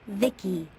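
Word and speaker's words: VICI: By the way, I'm V I C I, pronounced Vicki.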